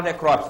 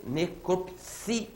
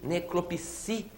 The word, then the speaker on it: necropsia: Todo mundo fala necrópsia, não fala? Vamos falar certinho? Necropsia. Sílaba tônica, esse si. Necropsia.